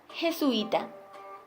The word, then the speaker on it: jesuita: La palabra jesuita. En esta palabra también hay un diptongo, porque en este caso hay dos vocales cerradas pero distintas. Ahora comprendemos que es una palabra grave, porque lleva acento en la penúltima sílaba y que no lleva tilde porque termina en vocal.